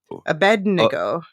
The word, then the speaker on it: Abednego: so first of all thank you to Emily for correcting my pronunciation Abednego um yeah I just